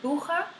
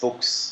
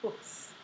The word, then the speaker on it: Buchs: I thought the village in Switzerland was Buche. How do you pronounce that? Buchs, Books. Oh, I'm so sorry, Books.